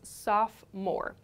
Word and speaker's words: sophomore: year students are called sophomore students sophomore the pronunciation here is sophomore so in the plural form we say sophomores